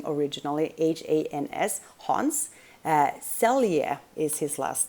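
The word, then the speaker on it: Selye: stress research was done by hans and i'm pronouncing that in swedish i believe it's a german name originally h-a-n-s hans celia is his last name last name s-e-l-y-e celia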